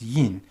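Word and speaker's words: 印: It's pronounced yin, and it means like to print or stamp something.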